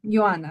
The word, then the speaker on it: Ioana: it's no no no Iana Yana Yana it's like it's like Johanna but it's without the age and yes you spell